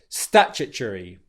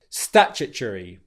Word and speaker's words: statutory: Bringing it all together, you get statutory, statutory, statutory.